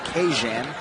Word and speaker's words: Keizhawn: mr johnson this week his first name is to be pronounced cajun so don't shoot the